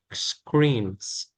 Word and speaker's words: screens: That's Okay, rồi, continue is screens. screen. Screens. Âm S thì đọc làm âm Z.